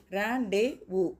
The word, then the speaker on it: rendezvous: இந்த ரேண்டேவு ஸ்பெல்லிங் பார்த்தீங்கன்னா RENDEZVOUS, ஆனால் ரேண்டேவு அப்படின்னு நம்ம அதை ப்ரொனவுன்ஸ் பண்ணணும்.